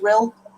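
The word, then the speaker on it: Rhyl: Julian says, I think that's pronounced Rill.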